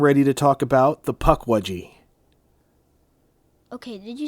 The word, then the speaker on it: Pukwudgie: So Pukwudgie is actually the most common modern English way to say it. Oh. There are actually a number of other pronunciations and spellings depending on specific tribes, but overall they tend to have a similar sound.